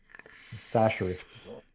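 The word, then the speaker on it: Chachere: Tony Sasser. Okay. Remember, if you say it any other way, you're doing it wrong. Sasser.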